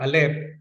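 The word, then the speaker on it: אל: stop kaya po kung pagsamahin ninyo itong alep sa camid it is pronounced as al al meaning head shepherd so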